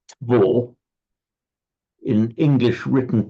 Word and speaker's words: två: In fact, in Swedish, it's pronounced två.